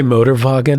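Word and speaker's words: Motorwagen: debuted a World's fair did you just say motor vagen well that's how they pronounced it they were motorin wait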